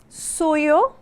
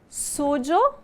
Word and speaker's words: suyo: Lembrando que eu posso pronunciar suyo, sujo ou sujo. Esse sujo não está se referindo a sujo do português, mas é o sotaque que nós escutamos geralmente na Argentina e no Uruguai.